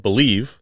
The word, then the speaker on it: Bleav: Is we actually joined a podcast network called Believe. Yes. Not spelled like Believe. It's BLEAV.